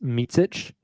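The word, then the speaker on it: Micić: vasilia meic it is confirmed last name is pronounced MIT um goes by Vasa or as kenri Williams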